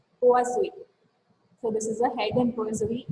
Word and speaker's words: Poiseuille: So Google pronunciation says I have to pronounce this as Poiseuille.